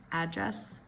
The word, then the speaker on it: address: Nouns typically first syllable, verbs second syllable, okay? Again, we've done this one before. Address. Address versus address.